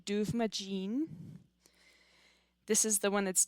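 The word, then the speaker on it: Dubhmadin: I would read the way that Rebecca writes it as duvagene, but it would be a little bit different if you actually put it in the correct Gaelic.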